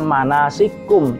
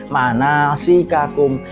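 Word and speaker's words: مناسككم: Seperti contoh lagi manasikakum, tidak dibaca manasikum tapi manasikakum.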